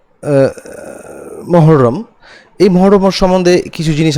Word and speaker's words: মুহাররম: মহরম কে কেন্দ্র করে একচুয়ালি উচ্চারণটা মুহাররম আমরা যদি আরবিতে যাই তো বাংলাতে এটাকে আমরা মহররম বলে থাকি তো যাই হোক মহররম